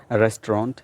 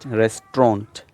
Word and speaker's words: restaurant: इज़ the American accent, restaurant, restaurant, right, t and ront, but in British accent you just say restaurant, restaurant.